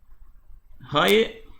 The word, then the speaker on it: Roque: First, I mispronounced roque. So this word here is roque, and in English it